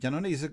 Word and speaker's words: Jannone: uh uh we have uh uh uh janoni is correct the pronunciation hello and raul portales which